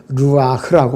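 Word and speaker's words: רוּחַ: 그 다음에 영이라는 존재, 스피릿이 헬라어 발음은 푸뉴마라고 그러고 히브리어 발음은 루아흐라고 발음합니다.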